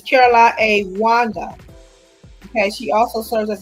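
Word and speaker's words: Caroline Wanga: I want to pronounce her name correctly. It's Caroline A. Wanda.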